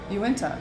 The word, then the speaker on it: Uinta: How do you pronounce that name? Uinta. Uinta, thank you.